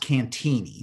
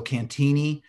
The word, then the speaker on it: Cantigny: uh so it's pronounced cantini so the g is silent so cantini uh was is a